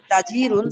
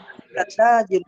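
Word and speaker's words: تاجرٌ: আপনি যদি বলেন তাজিরুন, জি, তাহলে মনে হয় ডিমের পর একটা ইয়া আছে, ও আচ্ছা, বলতে হবে তাজিরুন, تاجر জিরুন।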